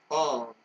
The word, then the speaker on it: Beaune: Beaune, so it's pronounced Beaune.